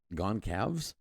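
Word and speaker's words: Gonçalves: I've been saying the name wrong. I'm sorry. The Gon Cows. Gone Cavs. G O N C A L V. Gone Cavs.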